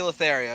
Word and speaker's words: Lothario: Lotoro. Jose Lotoro. I'll allow. Yep, Jose Lothario. You just said the name wrong.